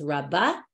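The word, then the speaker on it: רבה: Rava Amar, but Rava with an aleph, that's different Rabba with a hey, we pronounce it as Rabba.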